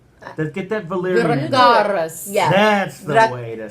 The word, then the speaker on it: Dracarys: Well, yeah, but you got to say it right. Say it with that accent. Get that Valyrian. Dracarys.